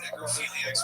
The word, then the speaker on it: necrophilia: It sounded like a hard G. And if you say necrophilia with a G, like from John Hayes, that turns into, you say it?